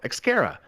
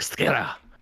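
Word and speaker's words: Xcaret: for it but it's it's spelled like x c a r r a and I was like oh xara and I'm saying it wrong it's like Scara something like that yeah even that's wrong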